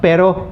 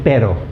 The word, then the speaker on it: pero: Okay, many students pronounce pero as perro. Okay, so then it becomes dog instead of butt. Pero means butt and perro means dog.